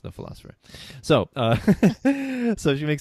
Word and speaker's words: The Pholosopher: on Facebook a little the philosopher that's pH o el oso fph ER the philosopher but of course pronounced the philosopher so so if you